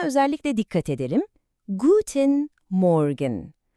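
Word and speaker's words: Guten Morgen: Guten Morgan. Oradaki R sesini duydunuz mu? Biraz gırtlaktan geliyor. Guten Morgan.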